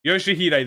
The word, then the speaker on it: Yoshihide: No, that's not how you read those letters. Yoshihide, that's how you say it.